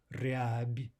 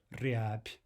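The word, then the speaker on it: рябь: We have a final soft b, but we'll pronounce it as a p, instead of riab. We'll say riab.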